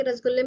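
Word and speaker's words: রসগোল্লা: बंगाली रसगुल्ले और उड़ीसा के रसगुल्ले में तो सबसे पहले तो प्रोनाउंसिएशन देख लीजिए। वेस्ट बंगाल का जो रसगुल्ला होता है उसको रसगुल्ला कहते हैं। आर ए एस ए जी U double A एल ए और ये जो उड़ीसा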